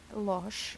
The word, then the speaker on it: Losch: oopsies this is the cosmic tarot by norbert losch am i pronouncing the name correctly losh okay so this is a u.s games deck